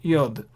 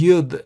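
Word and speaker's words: יוד: Yod is sometimes also, the letter yod is pronounced as yud as well. So you might hear me saying yud sometimes, so don't worry, yod and yud are the same.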